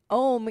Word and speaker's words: Om: om. Um, it's om because I like to also think of it like home, like, and that's how you pronounce it.